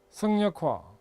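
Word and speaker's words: 省人化: 그 다음에 또 사람 효율 관련해서는 이 작업 효율과 성인, 이게 생자인데 이거 일단 성인이라 있습니다. 성역화, 생역화라고 읽지 않고 성역화라 읽습니다.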